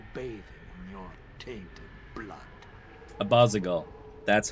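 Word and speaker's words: Abazigal: to abasa by bathing in your tainted blood abbasigal that's how you pronounce that i'm glad there's voice actors okay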